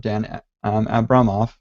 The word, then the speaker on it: Dan Abramov: the host of two free Redux courses from danette Abramoff I'm pretty sure that's how Brian finds told